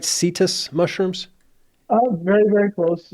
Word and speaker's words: Setas: it way worse it's setas setus okay set mushroom that's the actually that's the proper Spanish pronunciation for mushrooms oh just saying mushrooms